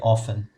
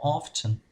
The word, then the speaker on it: often: Pronuncia often. Eu posso falar oftener, tá? E posso falar more often. Ou como os americanos dizem, often, sem pronunciar o T.